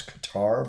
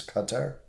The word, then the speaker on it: Qatar: a surprise cutting of diplomatic ties with Qatar, which a lot of people pronounce Qatar, but it is Qatar.